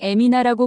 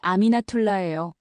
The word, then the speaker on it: 아미나툴라: 저는 보통 에미나라고 불리지만 제 이름은 아미나툴라예요.